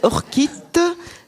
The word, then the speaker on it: orchite: mot orchite ou orchite, O-R-C-H-I-T-E. Moi je le prononcerai orchite, c'est plus élégant, mais enfin... Tu es gâté, Thierry, tu l'as... Eh bien tu l'estimes comment? bien non, c'est vraiment orchite.